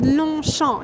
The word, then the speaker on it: Longchamp: So actually, if you take out the J and you take out the P. You mean G, right? G, yeah. It's Longchamp.